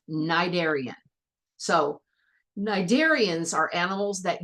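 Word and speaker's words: cnidarian: look at that word there's a c at the beginning but the C is silent you don't say it it's not narian it's nidian so nidian are animals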